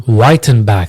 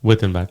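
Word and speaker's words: Wyttenbach: Whitenback w y t t e n b a c h pronounced Whitenback. Whitenback.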